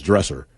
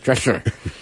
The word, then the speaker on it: Drescher: I cannot say her name. Drescher. Yeah. Back in the day. Picture Lou Holtz trying to say his dresser. Right, Drescher.